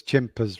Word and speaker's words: Chimpers: We always wanted to build an experience, and it's strange how things come about because Chimpers rhymes with Timpers, and that's actually how it got the name Chimpers.